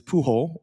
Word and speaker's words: Pujol: So I'm not worried about pronunciation. I feel good. So for for those that know it is puh hole.